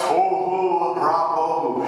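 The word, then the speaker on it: תֹהוּ וָבֹהוּ: In Hebrew, tohu ra bohu. You almost need a Darth Vader voice to be able to say it correctly.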